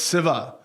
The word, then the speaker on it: Shiva: In Andhra, where my family's from, traditionally, we don't say sha, we say sa. So it's Siva. It's not Shiva.